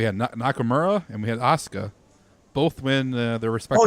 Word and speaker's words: Asuka: Yeah, Asuka. Is that how you pronounce that?